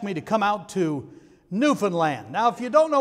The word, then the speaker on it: Newfoundland: and there's newfoundland now i used to say newfoundland until i went to newfoundland you don't say newfoundland they know you're a visitor you say newfoundland okay you got to say it right so i went out